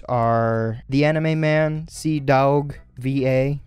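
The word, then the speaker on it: CDawgVA: Their channel names are The Anime Man, C Dog VA. I have to say it like that because it's not like dog, as in like puppies and everything. It's like Daug, that sort of thing.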